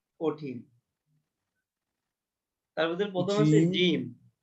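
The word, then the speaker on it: جيم: তার মধ্যে প্রথম আছে জিম জিম জিমে একটু জোর দিয়ে বলতে হবে জিম নাকি হ্যাঁ জিমে একটু জোর হবে বর্গের জতে জোর দিয়ে হবে জিম জিম তারপরে হা এই হা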